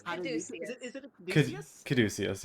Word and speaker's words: Caduceus: It's Caduceus.